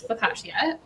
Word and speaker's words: focaccia: And so you provided a great alternative, which is focaccia. I'm pronouncing that right? Yeah, you are.